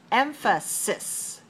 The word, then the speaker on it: emphasis: me look at me emphasis emphasis it has the same syllable stress code three one but cis and size are different so emphasis is the